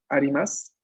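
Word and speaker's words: あります: Cuando vemos el su final, usualmente pronunciamos únicamente la S, ¿no? Porque sería o la cópula des o la forma en más de los verbos que vamos a empezar a ver próximamente, pero que la U final no se pronuncia. O decimos arimas, des, ¿no?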